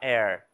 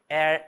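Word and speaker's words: heir: Air, OK? Air, honor, our, honesty. Então, a gente quebrou a nossa regra. Não existe uma regra principal. né? A gente sempre fala isso em que o H tem som em todas as os inícios tem som de R. Não, nem sempre.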